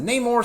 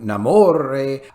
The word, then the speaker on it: Namor: Yes, they changed the pronunciation to Namor, and they also decided that he has to be a colonizer or whatever to get in their agenda stuff.